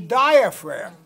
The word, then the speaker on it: diaphragm: is the diaphragm okay that's spelled with a g d i a p